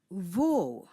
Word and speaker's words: wo: is located you ask V spelled w o That's the German word remember in German the letter W is pronounced as v as in the English word Victory let's say it again